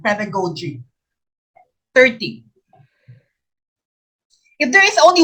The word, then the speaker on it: pedagogy: pedagogy the curriculum development it's pronounced pedagogy some teachers pronounce this pedagogy no it's pedagogy the curriculum development see